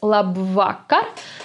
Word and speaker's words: labvakar: is the word labvakar again the second syllable is under stress it's la vaca and another funny thing that we spot here is that the k the sound k sounds as if there were two letters k in this word yeah